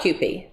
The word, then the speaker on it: Kewpie: So have you, and you probably don't even know about Kewpie. Rhymes with poopy.